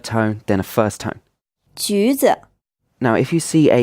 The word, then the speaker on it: 橘子: It's pronounced with a third tone, then a first tone. 橘子 Now, if you see a U sound after